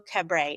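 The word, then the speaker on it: Cabret: New York Times bestseller, The Invention of Hugo Cabra. Is that pronounced right? It is. Okay. The invention of Hugo Cabay adapted into a Martin Scorsese's Oscar-winning movie Hugo.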